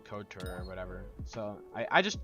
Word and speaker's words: couture: I always used to call it contour, but I was dumb and didn't realize it was actually couture or whatever.